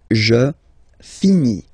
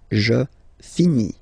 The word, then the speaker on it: finis: Je finis. Remember, final S is not pronounced. Je finis.